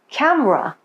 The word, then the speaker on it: camera: Dropped syllables are syllables that many people don't pronounce in the middle of a word. They're usually unstressed. For example, we usually say broccoli, separately, camera.